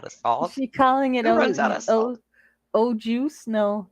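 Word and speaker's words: au jus: salt she calling it o juice no it's it's o apostrophe it's a French word and the S is silent yeah there we go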